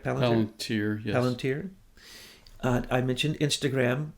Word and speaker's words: Palantir: Palantir, yes.